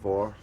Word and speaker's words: VOR: Radio VOR, not war, but VOR, or war, but spelled with an O, not an A.